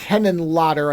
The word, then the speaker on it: Henenlotter: And this guy, Frank Henenlotter, I believe is how you pronounce the last name, he's not a stranger to this.